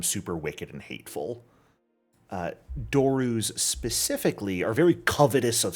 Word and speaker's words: doru: To recognize this thing as a doru.